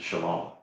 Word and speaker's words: Shalom: Where do you think the O sound comes from in Shalom? It is from the Wah.